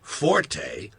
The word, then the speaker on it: forte: It's pronounced fort. The Italian word forte, F-O-R-T-E, used in music notation, is pronounced forte, and it instructs the musician to play loud.